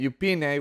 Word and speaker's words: Yufine: the character's name as you could hear she pronounces it upup which is very close to eup so so